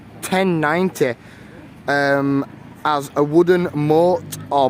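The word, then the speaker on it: motte: um as a wooden mort or mott and bailey which again is just like a basically a form of defense and it's like a mort which it's spelt m or double t e that might spell more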